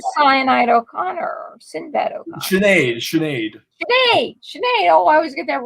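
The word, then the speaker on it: Sinéad: Sinead. Oh, I always get that name wrong. Sinead.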